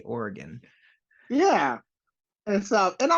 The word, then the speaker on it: Oregon: local Zoo like I used to say yeah Oregon but obviously now I say Oregon yeah and so and